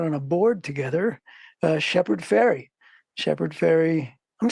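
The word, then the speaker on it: Shepard Fairey: saying it right right it's not it's it sounds like sounds like the goes across the yeah yeah people always want to say Farley faray I'm like no no it's just like tooth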